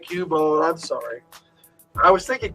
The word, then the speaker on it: Cubone: Cubone. I'm sorry. I was thinking Cupbone. I Cabone. It's Cubone.